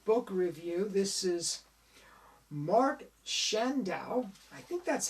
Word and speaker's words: Chandaue: here it is page 17 he says it's pronounced shand dao shan's ow mark shendo harpercrown folks if anyone